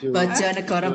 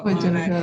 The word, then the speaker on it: Bojonegoro: So I hope that one day I can go to how you pronounce it? Bojonegoro, Prof. Farida. Bojonegoro.